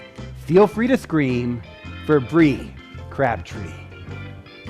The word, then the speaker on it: Bri: hello everybody hello mondo my name is bri bri is spelled b-r-i and it's short for brie b-r-i-e did you notice i